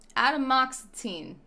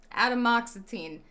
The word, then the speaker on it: atomoxetine: i i should know adam moxetine okay you ju as far you spelled it phonetically right but technically wrong and that's why i couldn't find it like that's how it sounds like fully that's how